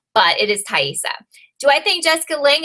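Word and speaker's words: Taissa: It's Thaisa, Lily. It's Thaisa. I had like 20, 30, 40 comments about how I was saying her name wrong.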